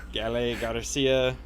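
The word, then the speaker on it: Gael García: don't even know like is it gale garcia i think that's all that that's exactly how it's pronounced yeah we'll go over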